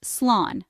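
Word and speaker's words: slán: While you can simply say goodbye in English in Irish you can say slan pronounced slan which means safe or goodbye.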